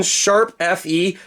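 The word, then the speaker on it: ♯FE: 101 Tokyo Mirage section sharp Fe that is the way you pronounce it apparently all of those got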